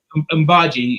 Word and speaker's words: Umbji: Is there anything you want to add, Amiri or Umbji? Did I say it right? Umbji, yeah.